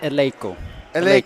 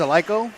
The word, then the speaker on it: Eleiko: me the proper pronunciation of that word we pronounce it eloo yes so if someone says AO or Leo can I smack them I wouldn't smack them